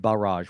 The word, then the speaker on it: Balraj: ball ball Kang but but I said barrage which was correct I'm very proud of